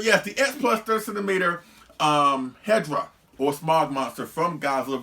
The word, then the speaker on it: Hedorah: edition of hedra or hedra or hedera i say hedra i say nothing against anybody who does say his name the other ways but i always have i prefer to call him as hedra you know what i'm